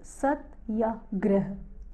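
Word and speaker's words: Satyagraha: of small is beautiful Satya grey subtle grey he pronounced Serta gray is a compound of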